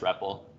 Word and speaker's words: REPL: But I think it's pronounced Repple. Stands for read, eval, or evaluate, print, loop.